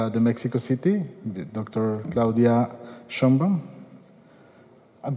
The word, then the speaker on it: Sheinbaum: Claudia Sheinbaum. I'm pronouncing wrong your last name, right?